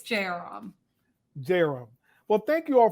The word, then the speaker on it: Jayaram: What's the correct pronunciation of your last name? Apologies for that. That's okay. It's Jairam.